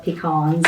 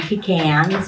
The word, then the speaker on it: pecan: way you want to in the South it's pronounced different we call it pecans up here they call them pecans down there so um but they're